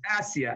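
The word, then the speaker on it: آسية: No, there's no Ayn, it's a Hamza.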